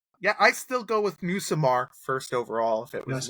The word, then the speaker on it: Nussmeier: Yeah, I still go with Nussmeier first overall if it was Nussmeier. Me. No, I keep saying his name wrong. Nussmeier.